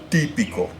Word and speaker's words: típico: Típico. And as you may have noticed, that those two words have their stresses on the third to last syllable.